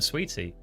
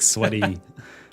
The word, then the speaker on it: Sweaty: I've always been calling him Sweetie. Yeah, like Sweaty.